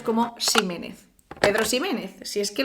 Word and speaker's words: Ximénez: Este sonido arcaico se conserva en el español de México y en otras zonas de América con origen náhuatl. También la pronunciación arcaizante de algunos nombres o apellidos como Ximénez.